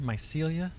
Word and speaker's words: Mycelia: I've been pronouncing it wrong forever. Mycelia.